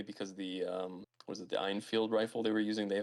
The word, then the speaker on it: Enfield: Did you call them Einfield? It's Enfield.